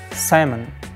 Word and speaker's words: salmon: for your general knowledge native speakers dropped the L letter and pronounce it like Simon Simon not salmon it's